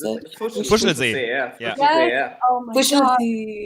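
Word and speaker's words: Fuschlsee: How do you pronounce it? Fushelsee.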